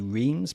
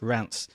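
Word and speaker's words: Reims: It's R E I Ms. So, it looks like it should be reams, but in French it's Rance.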